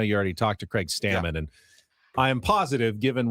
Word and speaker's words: Stammen: But I have a pet peeve that even people around baseball who know him, don't know how to say his name. Yeah. How many times do I have to hear Stammen, Craig Stammen? Really? Stammen. Dave Roberts did it yesterday at the managers. Call him Stammen.